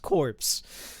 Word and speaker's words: corpse: Corpse is pronounced core, though. I know. But in this case, it's pronounced corpse.